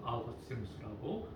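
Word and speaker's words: Augustinus: 카톨릭도 좋아하고 개신교도 좋아하는 유일한 어거스틴이고 카톨릭에서는 아우구스티누스라고 발음하고 있습니다.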